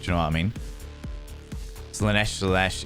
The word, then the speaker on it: Slaanesh: Slaanesh, it rhymes with flesh.